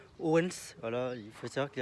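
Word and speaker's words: Odense: filmer donc holdance donc Oden ça se dit pas comme ça dans la langue danoise ça se dit Owens voilà il faut savoir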